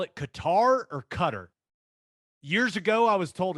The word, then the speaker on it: Qatar: ago i was told it's cutter but i feel like on espn they keep saying qatar so i i don't know what to do i'm going to go with qatar just because i mean it's spelled with a q n a so what what are we calling it what's the i call it qatar okay let's go with that i think maybe it's supposed to be cut but i sound like